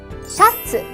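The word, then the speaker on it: シャツ: or shirts are called shat a Japanese pronunciation of the English shirt to wear a shirt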